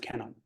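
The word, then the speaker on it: Kannon: into China became Guan and in Japan it's pronounced Canon so this is the bodhisatwa of compassion the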